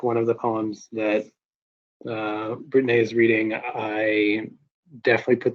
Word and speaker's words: Britteney: Their name is pronounced Britteney, not Brittany.